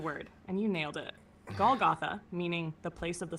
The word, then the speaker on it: Golgotha: Again, I don't know how to pronounce the word. Yes, Matthew. Golgtha is exactly the word and you nailed it. Goltha, meaning the place of the skull, is where Christ was crucified.